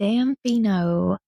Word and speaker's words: Damfino: So I'm going to spell it for you. Okay, please. So it's DAMFINO. Damfino.